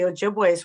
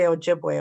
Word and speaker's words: Ojibwe: it's Anishinaabe, but it's Ojibwe. But also if you say Ojibwe really fast, because the Ojibways were known for speaking really fast, and you say Ojibwe, Ojibwe, Ojibwe, Ojibwa, it turns into Chippewa.